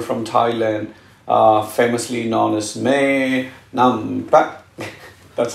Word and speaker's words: Maynumpetch: my favorite YouTuber from Thailand, famously known as Maynumpetch. That's how she taught me how to pronounce her name.